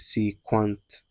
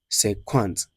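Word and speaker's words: cinquante: Then, we go to 50, that is say quant, say quant. Please say quant.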